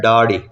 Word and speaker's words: ڈاڑھی: بھی ہیں داڑھی، تو یہ در حقیقت لفظ ہے ڈاڑھی، ڈال کے ساتھ۔ تو چونکہ ہم دال کے ساتھ بولتے سنتے آئے ہیں تو ہمیں ڈاڑھی غلط لگتا ہے، حالانکہ ڈاڑھی اس کا صحیح تلفظ ہے، صحیح املا ہے، اور جو دال کے ساتھ داڑھی ہے یہ غلط ہے۔ امید ہے کہ آج